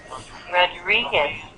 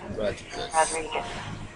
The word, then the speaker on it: Rodriguez: Rodriguez. Okay, let's go look at it. Right. Yeah. Uh, your first R sounds great. Your second R just not quite as round as first one.